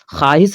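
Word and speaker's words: خواہش: तो जाता है लेकिन वाव का जो आवाज है वो नहीं होता है या यूं कहे कि वाव जो है साइलेंट होता है तो उसको हम लोग वाय मदुला कहते हैं तो देखिए इसमें है ना खवाहिश जो है ना ख्वाहिश जिसको हम लोग खवाहिश पढ़ते हैं ठीक है ये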